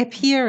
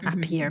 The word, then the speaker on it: appear: you cannot pronounce the schwa just say e appear is better than up here because it's not appear at all okay okay go on